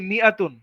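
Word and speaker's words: مائة: the Alif is not pronounce, আলিফটাকে উচ্চারণই করা হয় না, ইট ইজ প্রোনাউন্স মিআতুন,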